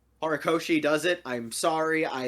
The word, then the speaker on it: Horikoshi: I don't know how Horikoshi does it. I'm sorry. I am very white. Oh, you mean the pronunciation? No, you actually did it Yeah. right. Yay! Horikoshi.